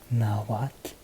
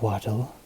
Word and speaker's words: Nahuatl: some basic language rules you pronounce know what as what the L at the end makes a sound now what but for the sake of clarity throughout the rest of the lesson I am just going to be making the L silent as English speakers we might be tempted to pronounce it as not Waddell but this is an incorrect pronunciation so the first things